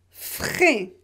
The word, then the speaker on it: frais: You have also fraîche, frais. Here. Fraîche, you have a consonant after fraîche. Here you don't pronounce it. Yes, you have one written, but it's not pronounced.